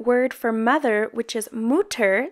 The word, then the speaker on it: Mutter: And the German word for mother, which is Mutter, spelled M-U-T-T-E-R, which of course in English we would pronounce mutter or mutter, it means to whisper.